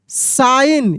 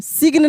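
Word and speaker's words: sign: they saw अ साइन सिग्न नहीं बहुत सारे मेरे प्यारे दोस्त गलती पढ़ देते हैं सिग्न या साइग्न ऐसे पढ़ देते हैं जी को उच्चारण करते हैं तो वहां पे जी क्या है साइलेंट है जी और एन एक साथ किसी वर्ड में आता है ना तो जी साइलेंट रहता है ठीक ना जैसे इसके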